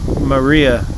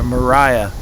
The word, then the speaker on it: Maria: wife finally left him maria or mariah as i've been informed is how she pronounced it mariah russell uh left him which was in 1897.